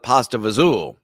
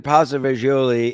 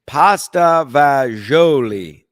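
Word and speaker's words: pasta fagioli: My grandmother always in my Italian side always calls it pasta vazul. Uh it's spelled pasta f a g i o l i.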